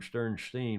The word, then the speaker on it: Sternstein: or another rob sternstein who really pronounces his name sternstein we learned over the